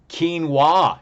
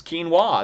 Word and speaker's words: quinoa: Quinoa is the correct answer there, and that's how you pronounce quinoa. That is spelled Q-U-I-N-O-A.